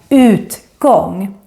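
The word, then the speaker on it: utgång: put together with gong but it's actually a separate word that's why you need to pronounce this as UT Kong and the same thing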